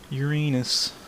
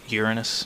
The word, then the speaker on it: Uranus: Ooh, let's go to Uranus. No, pronounce it Uranus and you'll have less people making fun of you calling it other things.